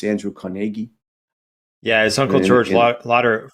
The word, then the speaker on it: Carnegie: I think the Scots pronounce the name Carnegie. Is that right? It's Andrew Carnegie.